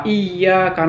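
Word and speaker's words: إِيَّاكَ: Kalau kita baca secara tidak bertasjid, misalnya iyyaka na'budu wa iyyaka nasta'in, kepada matahari kita menyembah dan hanya kepada matahari minta pertolongan. Nah, itu salah. Padahal hanya hilang tasjidnya saja.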